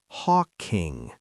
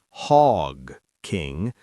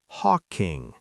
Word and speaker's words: Hawking: Hawking. Not Hog King with a heavy sound. It's soft. Hawking. Say it with me. Hawking.